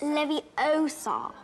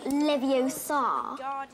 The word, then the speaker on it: Leviosa: you're saying it wrong it's leviosa not leviosa you doing then if